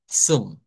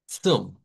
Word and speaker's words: zum: que en ese caso esa Z, vamos a aprender que el sonido no es la Z que conocemos. Es un africado, ¿verdad? Que lo vamos a conocer como el africado TS. Es como pronunciar la T y la S juntas. Zoom, Zoom.